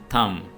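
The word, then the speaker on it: thumb: थम, थम के मानी है अंगूठा, और यहां पे भी बी साइलेंट है।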